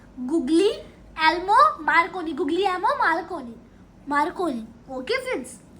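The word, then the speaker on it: Guglielmo Marconi: क्या है फ्रेंड्स इसकी प्रोनाउंसिएशन, गुग्लियोलोमो मार्कोनी, गुग्लियोलोमो मार्कोनी।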